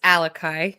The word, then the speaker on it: Alakai: name and don't want it's alakai so um it's a a hawaian pronunciation but I'm actually named